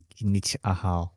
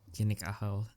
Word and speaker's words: Kinich Ahau: Yeah, I think I have the image for the Athena and the what is the how do you pronounce the yellow one again? Kinich Ahau. Kinik Ahal.